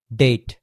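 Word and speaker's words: debt: উচ্চারিত হয়নি একেবারে ডি ইবিটি ডে না কি ডেট ডেট ডেট মানে হচ্ছে ঋণ ডেটে জর্জরিত হ্যা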